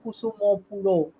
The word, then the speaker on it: Kusumapura: This reference comes from the Chinese Buddhist monks, and the fact that they actually used to refer to Kusumapura as Kusumo Puro, you know. So the pronunciation changed.